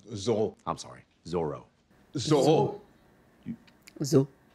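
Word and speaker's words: Zoreaux: Oh, it's pronounced Zorro.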